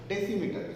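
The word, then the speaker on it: decimeter: इसका प्रोनाउंसिएशन हमको करना पड़ेगा डेसीमीटर.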